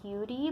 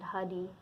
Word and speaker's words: Huddie: it's often been thought that his name is pronounced beauty but there was a recording once of him saying his own name in the middle of a song and he said hoody so I'm going to go with that pronunciation